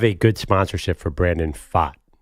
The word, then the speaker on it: Pfaadt: Pfaadt.